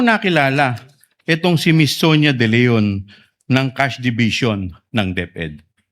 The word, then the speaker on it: De Leon: Ang tumatawag po sa akin ay si Miss Sonia De Leon po, ang Chief Admin po ng Cash Division ng Department of Education.